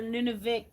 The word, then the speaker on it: Nunavik: They're Nunavik.